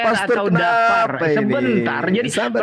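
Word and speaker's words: דַּבֵּר: Ini Deper pastor atau dapar. kenapa ini? Sebentar. Jadi Sabar pronunciation ini dulu. harus jelasin dapar atau deper supaya jelas. Ada orang di sini. Dabber boleh, Dabber.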